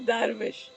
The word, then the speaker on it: dervish: He's a Sufi sage, and how he became a dervish, darvish as they call it. a Uh, diva, no, oh, darvish. a dervish. Yes, Oh, I know. lovely. The way they pronounce it is darvish.